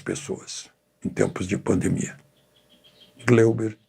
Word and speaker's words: Gleuber: Ele, como coronel, era assessor especial do presidente Geisel, que o chamava pela pronúncia alemã, Gleuber.